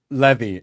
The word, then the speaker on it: Levy: Levy as in heavy.